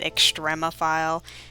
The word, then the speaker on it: extremophile: I'm sorry, I have to look up how you pronounce that. I'm like, I've said it too many times, and I'm like, is it extremophile?